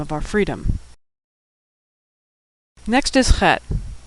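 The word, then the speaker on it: חית: That's a tricky one to pronounce because we don't have that sound in English. It's a throat-clearing sound like the German Ach, or the Scottish Loch, or like you're getting ready to hock a loogie.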